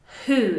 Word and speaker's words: who: We actually can't hear the "W". "WHO?" it's an "H" sound. It is just like "HOW?"